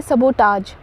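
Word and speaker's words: sabotage: हमारा पहला वर्ड है सबोटाज सबोटाज यहां पे मैंने स्पेल में जो डाल रखा है सटास है बट इसको सबोटाज प्रोनाउंस करते हैं सबोटाज और इसका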